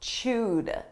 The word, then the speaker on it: chewed: Now let's talk about chewed. Notice this is an ed verb, a past simple verb, but the pronunciation is a soft D, chewed.